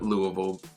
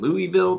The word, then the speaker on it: Louisville: Although it was named after King Louis, we locals call it Louisville. You know, it's just kind of the local lazy way of pronouncing it.